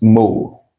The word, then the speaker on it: mol: Meanwhile, take note the short form of mole is m o l still pronounced mole.